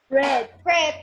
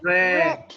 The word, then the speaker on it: read: And how do you pronounce read in past? Red. Red, like the color, right?